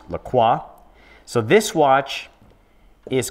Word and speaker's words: Lacroix: a watch made by a brand called maurice lacroix spelt with an oix a spell it's pronounced lacroix so this watch is called the icon spelled